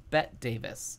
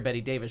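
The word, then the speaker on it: Bette Davis: there was no TVs she thought her name was pronounced bet Davis uh by the way it was spelled so she didn't find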